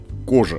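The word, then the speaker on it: Coja: городе под смешным для нашего восприятия название города кожа вот так вот и произносится город Старый построен ещё во времена древнеримской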